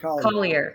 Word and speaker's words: Collier: i saying it correctly is it lighthouse of colier collier collier okay like cauli like the dog yes in naples sunny